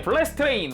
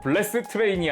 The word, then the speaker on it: 블래스트레인: 그리고 방금 매뉴얼에서 본 거지만 저는 블래스트 레인의 풀 네임이 블래스 띄고 트레인인 줄 알았는데, 그게 아니라 매뉴얼상 블래스트 띄고 레인이었다. 어쩐지 애니메이션 보는데 성우님이 블래스트 레인이라고 발음하시더라고요. 블래스 트레인이 아니라.